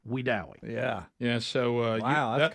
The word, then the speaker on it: Wedowee: And now the national media likes to call Wedowee Weedawee, but we know locally it is pronounced Wedowee.